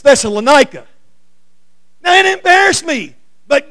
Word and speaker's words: Thessalonica: That's not how you pronounce that word. It's Thessalonica.